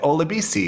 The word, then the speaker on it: Olabesi: seen in writing and you said olabisi is how you pronounce that name and then we got